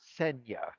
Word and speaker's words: Senja: I think it's Senya, not Senja. Senya. I think it's the J comes before the N.